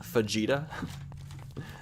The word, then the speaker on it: fajita: Fajita is actually pronounced Fajita. Sounds like Vegeta.